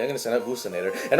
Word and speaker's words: Boostinator: It doesn't really look how it'd be pronounced. Like, you would think it would be pronounced Buckinator. No, it's Boostinator.